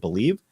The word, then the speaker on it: BLEAV: And make sure to use the promo code BELIEVE, and that's spelled BLEAV, to receive your rewards.